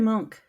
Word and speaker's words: Munch: as the scream edar Monk Ed monk is correct I'm sorry we had Edward Munch Edward Munch um so I was at a thing and somebody pronounced it Munch and I'm like I